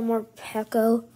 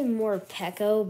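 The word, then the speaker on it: Morpeko: how it actually well some people pronounce it like more my friends they say more peco but i think it's more pico but i don't know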